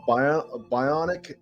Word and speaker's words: Bionic: Oh, you know what I said? I called it Bionica, but okay, it's Bionic and the Wires.